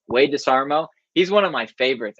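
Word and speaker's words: Desharmo: I really like, do you guys watch Wade DeSarmo or Wade DeSarmo? I always say it like SH. Wade DeSarmo.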